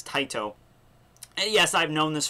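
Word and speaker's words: Tite: of a 27 chapter series by the great Tito Kubo um somebody left me a comment last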